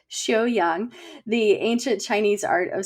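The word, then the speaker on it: Xiuyang: And also Shu Yang. She's going to have to correct my pronunciation. We went over this before, but I think it was more like Xiu Yang, the ancient Chinese art of self-cultivation.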